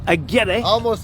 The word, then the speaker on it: Aguirre: Let's talk to David Aguirre. Did I pronounce that right? Aguirre. Almost there. I got to get the tongue rolling a little bit more better on that.